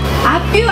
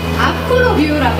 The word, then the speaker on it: 아프로뷰: 옆이 아니라 앞을 본다는 뜻이에요. 앞뷰 안 돼요? 앞으로 뷰? 앞으로 뷰라고 해주셔야 됩니다.